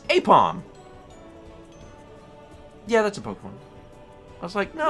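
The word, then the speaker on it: Aipom: the ball, but that's Isn't it Ipom? No, I think it's pronounced Apom.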